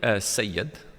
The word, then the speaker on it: Sayed: father gave me, so generally kind of is pronounced Saeed, so my mum says Saeed, it's a bit easier. Would it be Syed? Saeed, but it'd be Sayyid. Sayyid, which doesn't roll off the tongue, particularly when you're kind